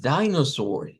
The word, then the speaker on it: dinosaur: Y es dino. Hasta acá es la primer sílaba y termina también con termina con una shua. Entonces decimos dinosaur.